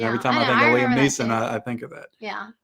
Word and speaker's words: Liam Neeson: physically and then of course what is that liam neeson down there liam liam nelson um as your father-in-law would say no i'm